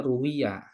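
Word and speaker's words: رواية: kalau redaksinya ruwiah itu dibacanya ruwiyah ya bukan roa ruwiyah diriwayatkan artinya pakai dalam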